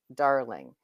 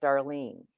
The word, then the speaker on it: Darling: My name is with a pause. Darling, if I don't put the pause in there, I get Darlene. I don't get.